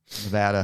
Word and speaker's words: Nevada: Nevada is a Nevada, however you want to say it, is a derivative of the Spanish language and the a is pronounced ah in that.